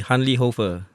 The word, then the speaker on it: Hanli Hoefer: Yeah, fun time to be Hanli Hoefer. Yeah. Am I pronouncing it right?